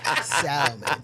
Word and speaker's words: salmon: the pat one um I hate people pronouncing the L in salmon salmon what you do you